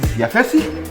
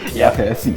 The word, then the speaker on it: Yafesi: My name is Yafesi. Nice to meet you. Yes. Yafesi. Yeah. 3 syllables. Yafesi. 3 syllables.